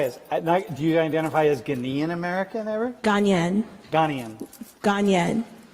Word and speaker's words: Ghanaian: So you identify as, do you identify as Ghanaian American ever?